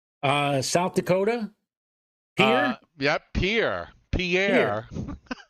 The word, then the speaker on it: Pierre: South Dakota yeah yeah Pierre Pierre that's right it's not Pierre it's Pierre right exactly yeah and I'm